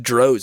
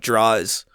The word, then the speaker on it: Droz: I learned that it's pronounced Droz and not Draws the other day.